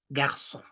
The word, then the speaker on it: garçon: So whenever you see that accent hanging below letter C, you know, actually it is modifying letter C to have the sound of double S. So we pronounce it like garçon.